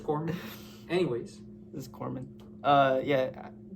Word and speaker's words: corpsman: Corpseman. Corman. I see. Yep. Corpseman. I don't think that's a rape, but we can check on the pronunciation later. Pretty sure it's Corman.